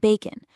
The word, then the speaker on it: bacon: And you'll find it at the end of words like lemon and bacon where the O just kind of relaxes into that soft un sound.